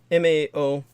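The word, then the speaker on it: 卯: the romanization, while Mao, M-A-O, also means cat, but there is a little used word for rabbit in Old Chinese. The ancient Chinese my mother would speak, that would also be pronounced Mao, M-A-O.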